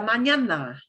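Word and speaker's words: mañana: choose to say hasta manana hasta and you're going to learn very very soon this little funny n with a little squiggle over the top sounds like nia okay okay but if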